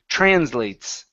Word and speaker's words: translates: instead of translates okay the e at the very end is not pronounced so it's translates trans translates okay very